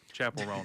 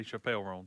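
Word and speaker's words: Chappell Roan: Oh, Chapel Roan. I was about to say Chappelle Roan.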